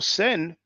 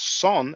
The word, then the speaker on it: sen: And for example, sen, that the Coptics call or pronounce son, S-O-N, sen means brother.